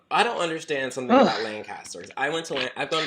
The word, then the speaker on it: Lancaster: up we are the only Lancaster that pronounces it Lancaster we we fullon have t-shirts that say l n and then k i SS and then t r so so that everybody gets it how did you how